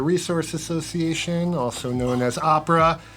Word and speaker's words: OPRA: So you So it's pronounce with Ohio O. with the O. Why would you pronounce opera with the ah?